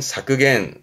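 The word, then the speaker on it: 削減: 발음은 사크겐, 사크겐.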